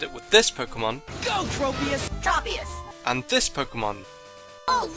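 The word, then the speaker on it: Tropius: well according to the 3D app the correct pronunciations are tropus Bly oh thank God I finally know how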